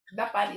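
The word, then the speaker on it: depan: Bulan dapan ang paging dapan isan d e p a n ang pagpronounce kay instead sa eah A okay bulan dapan Okay sa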